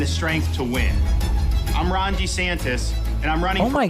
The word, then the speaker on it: DeSantis: running oh my God he's going back to the old pronunciation do you guys know about this he used to say his name DeSantis and then over the last several years he stopped that he seems to be he's running as a different person he's back to DeSantis for president to lead our Great